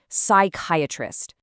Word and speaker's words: psychiatrist: This silent P shows up in a lot of words that come from Greek, especially words about the mind, like psychology.